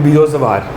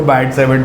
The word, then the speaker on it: Biot-Savart: called बैट saves law वैसे जिन scientist का नाम है वो दोनों टी साइलेंट रखते थे तो वी कॉल इट बीओ सवार बीओ सवास लॉक हम इंडिया में इसको बैट सेवेट बोल देते हैं दिस बेसिकली डील्स विद